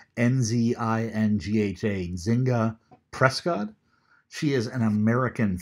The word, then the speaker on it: Nzinga: This is, I don't have a pronunciation guide for her name, N-Z-I-N-G-H-A, Nzinga Prescott.